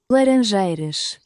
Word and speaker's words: Laranjeiras: Laranjeiras.